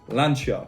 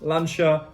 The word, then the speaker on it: Lancia: needs to be pronounced lancia these are all italian names and need to have the italian emphasis if you are an